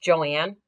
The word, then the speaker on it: Joanne: So her name is pronounced Joanne, but her name was spelled as Joan.